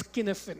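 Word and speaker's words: Cynefin: for understanding our topic is one known as skinnifin it's pronounced skinnifin it's a Scottish word it looks like cinnipin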